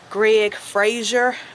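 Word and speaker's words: Greig: His name is Greg Fraser, but it's spelled F-R-E-I-G, or Greg Fraser.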